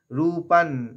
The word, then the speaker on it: রূপং: নেত্র বাধে দেবী ধর্ম কামার্থদায়িনী, ধর্ম কামার্থদায়িনী রূপং দেহি, রূপং অনুস্বরটা নয়ের উচ্চারণ হবে, রূপং দেহি জয়ং দেহি যশো দেহি দেহি, দেখে টানার পর হিয়ের পর একটা দ নেব, দয়ের আঘাত নেব।